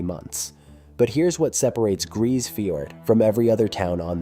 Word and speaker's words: Grise Fiord: Grise Fiord, pronounced Grise Fiord, sits on the southern coast of Ellesmere Island, over 1,100 km north of the Arctic Circle.